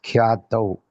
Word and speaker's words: ख्यातौ: line, the shabda is khyatau, original word, so that is correct. Okay. Ashrama khyatau. Okay. Tau karke pronounce karna. T-A-U.